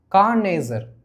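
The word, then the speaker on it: connoisseur: கார்னேசர். Okay, இப்படி தான் அதை ப்ரொனவுன்ஸ் பண்ணணும். ஓகே, டைனோசர் மாதிரி கார்னேசர். டைனேசர், கார்னேசர் ஈஸியாக தான் இருக்குது.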